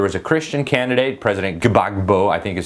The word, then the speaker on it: Gbagbo: uh so there was a Christian candidate president gbagbo I think is how you say his name